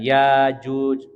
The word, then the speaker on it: Ya'juj: adalah ulama qirah ya mereka membacanya dengan Alif yang apa namanya Alif Mati ya dipanjangkan yaajuj Wa Majuj akan tetapi kalau qirah